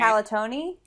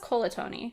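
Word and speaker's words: Colantoni: Calatoni? Calatoni. I thought it was Colatoni. Is it Calatoni? The Veronica Mars podcast I've been listening to says Calatoni. So then if they're Enrico wrong... Calatoni.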